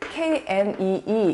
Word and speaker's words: knee: 무릎을 K-N-E-E 이렇게 쓰는데요. 발음은 knee 이렇게 합니다. 그러니까 옛날에는 knee, knee 이렇게 했었을 거예요. 그런데 이제 어느 순간 K가 빠진 거죠.